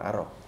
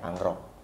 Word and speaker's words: Angrok: sebetulnya dalam tulisan sansekertanya nama dia bukan Arok tapi lebih kepada dibacanya angrok musren juga akhirnya lemon